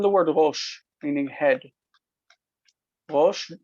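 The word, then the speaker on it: ראש: Rosh, the aleph doesn't have any sound. It's It sounds like it's just rosh.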